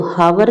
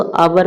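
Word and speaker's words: hour: H silent रहता है। एच को पढ़ा नहीं जाता है। तो हावर नहीं इसको आवर पढ़ते हैं।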